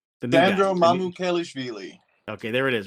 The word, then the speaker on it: Mamukelashvili: I'm not going to even dare pronounce his last name. Sandro Mamukelashvili.